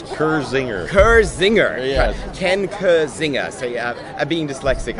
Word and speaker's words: Kirzinger: are here with ken now how do we pronounce that cr zinger zinger yeah ken kurzinger so yeah i'm being dyslexic i've seen z's